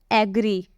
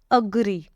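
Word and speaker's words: agree: second word है अग्री इसको कई लोग पता है क्या पढ़ते हैं एग्री एग्री पढ़ते हैं यह बिल्कुल गलत होता है इसका राइट मीनिंग होगा अग्री ऐसे बोलोगे आप अग्री आई एग्री with you किसी को बोलते हो ना आई एग्री विथ यू तो वहां पर आप एग्री ना बोले वहां पर आप अग्री बोले इसका प्रोनंसिएशन अ होगा ठीक है अब चलिए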